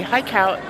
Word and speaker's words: Haikou: Got to pronounce it rightly. Hi, Cow.